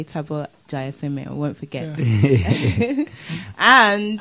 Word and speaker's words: Thabo: didn't want to attempt okay my name's um taboo jai semi jai semi yes yes that is from it's uh my first name taboy south african means happiness oh wow my son